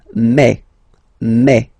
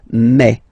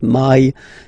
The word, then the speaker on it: mai: In French, remember when you combine this A and then I vowels, you get the sound E. So really open E, okay, and then you pronounce it me.